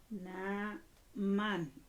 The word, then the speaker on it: Naamán: me vaya a estar equivocando la manera como pronuncio, el nombre es Naamán.